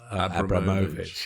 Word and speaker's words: Abramovich: Yeah, I was instructed early on. It was Roman Abramovich.